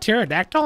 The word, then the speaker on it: pterodactyl: can you hear that pterodactyl in the bathroom bro no oh that's cause the p is silent Burger shops closed Walker